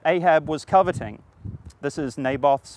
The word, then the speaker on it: Naboth: was coveting this is naboth's Vineyard or navot in Hebrew we'll go with the English pronunciation for this episode but